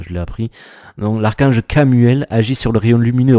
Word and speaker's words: Chamuel: On te dit l'archange Cam, en plus ça se prononce K, tu vois, parce que ça je l'ai appris. Donc l'archange Camuel agit sur le rayon lumineux rose de l'amour.